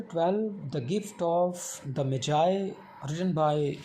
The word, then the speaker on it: Magi: The Gift of Magi में जो last word Magi है, इसको सम टाइम कुछ स्टूडेंट्स टीचर्स मैगी भी पढ़ते हैं, बट the real and exact pronunciation of the word is Magi.